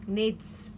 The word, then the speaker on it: Knids: this the misha s' needs he cried that's what they were he sounded the K like Kenneth's like that oh it's not a silent K I thought they were